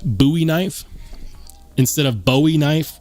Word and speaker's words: Bowie: all about pronunciation and technically it could be pronounced either Bowie or buoy but given the fact that the knife is made after the famous Jim buoy it makes sense that it should be pronounced buoy knife instead of Bowie knife we've already been